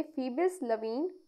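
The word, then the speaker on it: Phoebus Levene: इसे हम प्रोनाउंस करेंगे फीबस लवीन।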